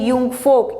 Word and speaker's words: Jungvolk: जब बच्चे 10 साल के हो जाते थे तो उनको यंग फोक, देखिए JUNGVOLK, ठीक है, लेकिन इसका प्रोनाउंसिएशन है यंग फोक, इसमें भेज दिया जाता